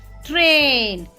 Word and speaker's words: train: T-R-A-I-N, train. Now A-I here, A-I-I is silent. Sound of I is silent.